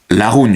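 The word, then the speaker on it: La Rhune: Et le nom espagnol est Laroun. Et on le prononce en basque Laroun justement.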